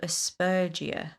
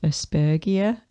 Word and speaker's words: Aspergia: It just occurred to me that it might be pronounced Aspergia. Like Asperger's. Jesus Christ.